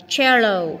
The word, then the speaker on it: cello: Rồi câu số cái cách thứ tư đó là chữ cờ đọc là chờ như này, thấy không? Cello không đọc cello mà cello.